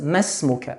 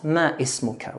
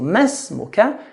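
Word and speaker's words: ما اسمك: If alif is in the middle, it should be skipped, silent. So masmuka and not ma ismuka, which is very common mistake. So masmuka.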